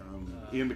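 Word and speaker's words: Iain: Like Ian or Ian. Yeah, in the documentary they're calling him Ian.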